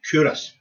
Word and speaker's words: Culross: So it's spelt Culross, Culross, pronounced Curos.